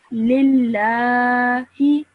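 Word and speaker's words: لله: Over here, make sure that you stretch this sound for 2 seconds because the lam over here has a shadda and then on top of that, a vertical fatha. So you would say this as lillahi.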